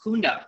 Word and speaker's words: Kunde: Our last name is actually pronounced Kunde, and that stands for customer or client. And it starts off with this good-looking guy with a mustache right up here. His name is Louis Kunde, and he originally came here and purchased the